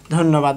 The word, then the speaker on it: ধন্যবাদ: এই যে মধ্যে জফালা আর শেষে যদি জফালা থাকে তাহলে জফালার উচ্চারণ হবে না, তবে জফালা শব্দটা যার সঙ্গে যুক্ত আছে জফালা, সেই শব্দটা 2বার উচ্চারণ হবে।